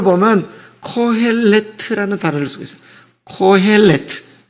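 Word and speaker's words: קהלת: 코헬레트. 그래서 코엘렛이라고 발음하기도 하고 코헬트 정확히 발음하기도 합니다.이 말은 칼 모이다, 소집하다라는 거예요.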